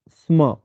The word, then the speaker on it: स्म: आगे वदति स्म, यहाँ लगभग सभी में स्म लगा है। इसका उच्चारण बड़े ध्यान से करना है। स आधा है और म पूरा। सम नहीं बोलना है इसे, स्म।